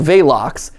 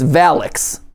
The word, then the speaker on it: Valox: In certain parts of the world, it's called Valox. Rhymes with Malox, in case you have indigestion. And then the other half of the world, it's Valix.